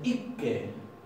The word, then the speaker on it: ikke: En noruego, esto se pronuncia ikke, ikke, ikke. La doble K se va a pronunciar como una doble K.